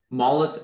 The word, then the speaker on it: mullet: could i have everything molot is the only pronunciation it's a noun it's middle